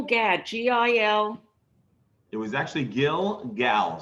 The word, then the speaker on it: Gilgal: g-i-l it was actually gill gal so it ends with an l gill okay field gail